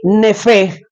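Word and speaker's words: נפש: Y nefe, termina con H. Nefe, el nefe se escribe Nefesh.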